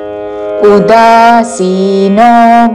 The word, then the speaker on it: ఉదాసీనో: అనపేక్షः శుచిర్దక్ష శుచిర్దక్ష అపేక్షः శుచిర్దక్ష ఉదాసీనో ఉ హ్రస్వము ఉదాసీనో అని ఊతో పలకకూడదు. ఉదాసీనో ఉదాసీనో గతవ్యథః తా మీద ఆఘాత చివరిలో మహాప్రాణాక్షము థ. గతవ్యథః గతవ్యథః కాదు, అల్ప ప్రాణతో గతవ్యథః అని కూడా కాదు. గతవ్యథః ఉదాసీనో గతవ్యథః సర్వారంభ రా తర్వాత మాకి మహాప్రాణాక్షము భావత్తు.